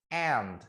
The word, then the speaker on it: aunt: Kemudian ada aunt. Ini bacanya aunt gitu ya. Aunt. Tulisannya aun, tapi bacanya aunt.